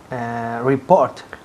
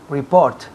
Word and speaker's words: report: Report. Repeat. Report. Muy bien. Report. Report. El énfasis cae en la segunda sílaba.